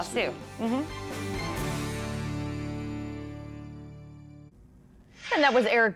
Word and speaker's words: Zasu: And hopefully all goes well at Zasu, which I learned from Sue is not how she pronounces the name of her restaurant.